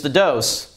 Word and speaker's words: DŌS: little double meaning uh it's dose because it obviously has two uh two pumps um and it doses your system so it does have a long o and uh we hope